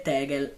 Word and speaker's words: Tegel: La pronuncia tedesca corretta è Tegel.